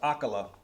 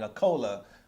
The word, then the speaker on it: acola: Apparently his name is pronounced Acola, and I'm over here saying Acola like he's some type of beverage.